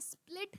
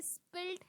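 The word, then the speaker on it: spilled: Pronunciation पे ध्यान दीजिएगा, ये स्प्लिट नहीं है, ये स्पिल्ड है।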